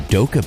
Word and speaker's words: Dokkaebier: going to be speaking to youngan Lee from doab beer it is doab beer right am I close with that pronunciation okay good perfect probably should have asked